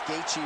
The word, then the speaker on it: Gaethje: there from Bruce Buffer he even pronounced gatei Right congratulations to Justin on